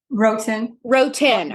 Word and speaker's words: Wroten: Her name is, and pronounce the last name for me, just so I know. Wroten.